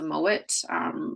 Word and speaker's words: Mowat: It's spelled with 2 T's. Like I always say, it doesn't matter because the English changed the name. It was spelled M-O-A-D, but it is a Scottish accent. It was still pronounced, a D is pronounced as a T.